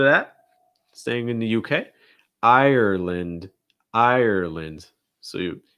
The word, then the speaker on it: Ireland: ireland ireland so you it almost sounds like three syllables i or i like in like time or fine i notice that my jaw just kind of snaps closed ir ir ireland and again same thing that we just saw with england ireland same thing with the lind okay it gets reduced instead of land it's more lint ireland ireland also make sure you're stressing the first syllable it's just the i